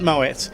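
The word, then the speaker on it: Moët: If we look over here, you'll see a T at the end there, and you do definitely pronounce it Moet.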